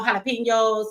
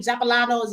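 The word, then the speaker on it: jalapeños: gonna stop tequila and the tacos and no jalapenos none of that and what's up everybody calling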